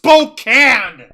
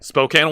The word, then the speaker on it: Spokane: seven votes at 57% it's pronounced Spokan Spokane Washington Spokane my Spokan Spokan so